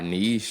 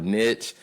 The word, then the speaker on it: niche: And we spend over a year really getting clear about our niche or niche, however people want to pronounce it.